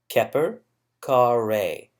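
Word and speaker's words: Kheperkare: the five names and this is pronounced Kepper kar rahe which means the cop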